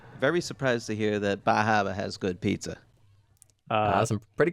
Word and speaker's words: Bar Harbor: Um, so again, anyone vacationing in Bar Harbor, go eat pizza. You're saying it wrong. It's Bahava.